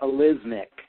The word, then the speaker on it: Alysmik: I pronounce that Alizmic.